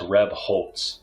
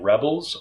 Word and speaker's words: Rebholz: It's pronounced Rebholz. So I either get Rebels or Rebolts, because people like to put the T sound in between the L and the Z because they think it should be there.